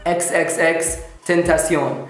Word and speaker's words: XXXTentacion: المهم شباب, قصة اليوم عن XXXTentacion, كذا ينطق اسمه XXXTentacion.